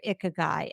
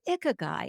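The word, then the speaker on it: ikigai: any age is that you have found your ikag guy and and folks if you don't know what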